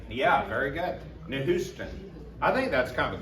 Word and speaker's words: Nehushtan: It's Nehushtan. I'll call it Nehushtan. Yeah, very good. Nehushtan.